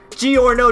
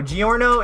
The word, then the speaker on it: Giorno: love G or no G or no is fire and his name rhymes with DiGiorno so you know it's